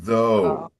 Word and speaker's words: thou: But this is though. Okay. It would be though. Sorry. T H O U G H would be though. But without uh this old word is thou with a more open O.